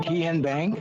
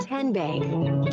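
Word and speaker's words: TN Bank: Tien Bank? No. Kin Bank? So what is it? Ten Bank. 10, as in Tennessee.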